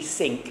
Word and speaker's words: Cinque: Okay, nowadays in modern French it's pronounced cinq. Okay, but when we talk about the Cinque Ports, the proper pronunciation should be cinq, because in the 12th century when it was founded, the word for five in French was cinq.